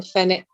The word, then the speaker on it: Fenwick: I think W is silent in Fenwick.